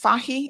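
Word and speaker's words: Fahie: premier uh mr andrew is it pronounced fahi is that how he pronounces it yes ah okay so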